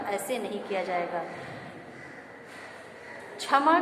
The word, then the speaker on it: क्षमा: क्षमा के उच्चारण के लिए क्ष का प्रयोग किया जाएगा।